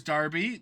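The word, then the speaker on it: Derby: There's Darby. There's Stanford. And there's Lincoln. Yep. A couple of those are not pronounced how they're spelled, but we're gonna just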